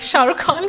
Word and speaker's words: Shah Rukh Khan: yeah, I think my aunt would be really proud of me for saying she's a big Shah Rukh Khan fan.